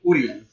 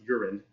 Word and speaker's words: Urien: he also has a brother named Urien. Yep. Who is often mispronounced Urin.